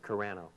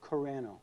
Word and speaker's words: Carano: how do you say your last name corano corano yeah well welcome to the show thank you